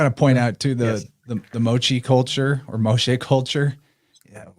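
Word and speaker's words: Moche: You pointed out, am I pronouncing it right? The Mochi culture, the Mochi. Yeah, culture? the Mochi, yes. Mochi.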